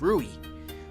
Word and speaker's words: Rui: No, not Ryu, it's Rui. I've been saying it wrong the whole time.